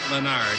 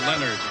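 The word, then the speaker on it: Lenard: Leonard is not Leonard. It's Leonard, they say.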